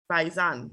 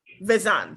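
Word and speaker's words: Visanne: it as well already byzan that's how you pronounce it vizan sorry and i know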